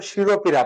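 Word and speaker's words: শিরঃপীড়া: এই পোয়া থাকার কারণে এই বিসর্গটা বজায় থাকবে, শিরো, শিরোপীড়া, উচ্চারণ করছি ও দ্বারা শিরোপীড়া, কিন্তু লিখছি কি বিসর্গ, কারণ হচ্ছে কি এই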